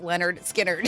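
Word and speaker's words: Lynyrd Skynyrd: Look, look, it says pronounced Leonard Skard.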